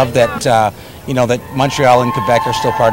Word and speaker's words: Montreal: Also, I hope it helps with the pronunciation, because a lot of Americans say Montreal. Montreal. Or, you know, or Montreal, right? Yeah. So it's Montreal.